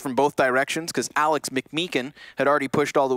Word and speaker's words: McMeekin: Hunter then pinched from both directions because Alex McMeekin had already pushed all the way to the back of Marketplace. Is that how you pronounce his last name? Yeah. McMeekin? McMeekin.